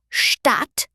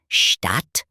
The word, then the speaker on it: Stadt: A short vowel usually comes before a double consonant, like in Stadt or Hütte.